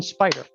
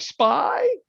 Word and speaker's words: SPY: Okay, we're going to type in spider. Everybody familiar with the spider? SPY. You're like, what is SPY? It's SPY. It's a spider. It's the S&P 500. Okay, do you have to say it like SPY?